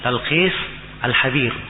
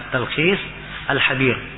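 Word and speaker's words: التلخيص الحبير: Dia baca, dia tulis talkis alhab. Ini keliru ya. Harusnya dibaca at-talkhis pakai alif lam bacanya jelas ya. Attalkhis alhabir kemudian pakai ha biasa bukan pakai k. Ini sering salah baca habir harusnya attalkhis alhabir.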